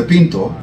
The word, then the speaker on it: Pinto: introduced a compact card the pinto pronounced Pinto in Brazilian Portuguese they didn't realize that